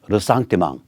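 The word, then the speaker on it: ressentiment: 반면에 반미, 반일, 종중, 친북, 햇볕, 민족, 평화, 페미, 젠더 이런 거를 내세워서 앙심, 르상티망 불어 발음하면 더 멋져요. 르상티망 영어로는 리젠트먼트죠.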